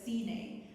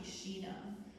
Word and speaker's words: Sheena: And the correct pronunciation, so 11 Labs says Cine, but the correct pronunciation is actually Sheena.